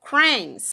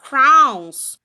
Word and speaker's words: crayons: Aqui nessa parte aqui, onde ele tá cortadinho, mas é 15%, vão falar uma sílaba só, cranes, que seria 15%, tá? Cranes, cranes. E aqui, 2% vão falar crowns, crowns, igual de coroa.